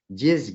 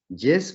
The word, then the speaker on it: Diesse: J'ai la chance de recevoir aujourd'hui Guylaine Lanctot qui préfère se nommer elle-même Dies Guy. Dies comme la contraction entre Dieu et déesse et Guy qui se prononce comme le beurre clarifié, m'a-t-elle dit.